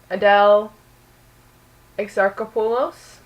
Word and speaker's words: Adele Exarchopoulos: Adele Exarchopoulos.